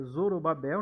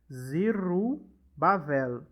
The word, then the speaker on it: Zorobabel: no z 100 Babel em português em se pronuncia Zorobabel né em hebraico é zuruba zero zuruba zero tá zero como está escrito aqui perto daqui ó zirro bavel tá em hebraico Zoo Alecrim